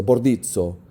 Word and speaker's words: Bordizzo: Bordizzo. I want to say that's how you pronounce it, in Italian at least.